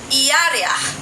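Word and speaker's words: ירח: Lua em hebraico é pronuncia-se iar.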